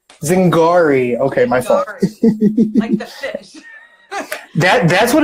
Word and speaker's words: Zingari: correctly by the way it's Zig re zing gari okay my father that's